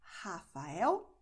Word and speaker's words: Rafael: So in this case, you're going to use your throat, and like you have when you say hot in English. So you're going to say Rafael, Renata, Raquel, Morro.